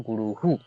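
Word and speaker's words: गुरुः: उ साउंड है तो विसर्ग का जो ह वाला उच्चारण है उसके साथ उ जुड़ जाता है और उच्चारण होता है गुरुहु ओके तो अह क्यों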